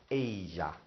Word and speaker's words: ella: Double L's in Spanish, just like in French, sound like a Y. Think, think, think. Don't say anything. Sounds like a Y, so this is going to be pronounced ella.